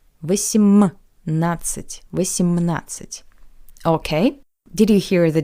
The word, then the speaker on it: восемнадцать: шестнадцать, 7, семнадцать, 8, восемнадцать, 9, девятнадцать. And 2 points important for the pronunciation of the numbers from the second column. Firstly, I remind you that the letter D is not pronounced.